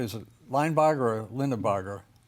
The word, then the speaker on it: Linebarger: introduce us to is Paul logger am I pronouncing that correctly is it L Barger or Lind barer line Barger line Barger so who was he and why is he